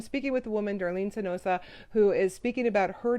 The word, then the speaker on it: Sanzotta: And I'm going to try and bring Darlene uh, San, Sanzosa. I got to get her to say her name, Sanzotta.